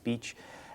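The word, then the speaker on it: Bache: Now, there are 2 main characters associated with the Aurora, Benjamin Franklin Beach, spelled B-A-C-H-E. Phonetically, Beach, and William Duane.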